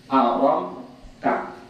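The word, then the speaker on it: أرمت: Jadi bacanya aram bi fathir ra wa iskan, mensukunkan mim dan memfathahkan ta. Aram ta, gitu.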